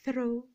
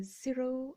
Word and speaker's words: Ciro: These are by Ciro, and I don't know if you pronounce that Thro or Zero or Ciro, but it's Ciro.